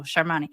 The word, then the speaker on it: Shani: to it because that's that's how they put the ACC the emphasis on this the second to the last syllable is where they put the so Shani so now Shay who